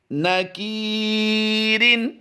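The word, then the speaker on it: نَكِيرٍ: नून ज़बरना, काफ या ज़ेर की, न की, रा दो ज़ेर रिन, नकीरिन।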